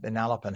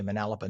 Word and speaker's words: Manalapan: Uh, four freshmen at Manalapan High School. And yes, locals say Manalapan, not Manalapan. New Yorkers say Manalapan.